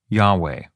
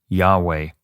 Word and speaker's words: Yahweh: period and many diasporas the original pronunciation of the tetragrammaton yhwh has been lost scholars have found somewhat of a consensus with yahweh although the 3rd century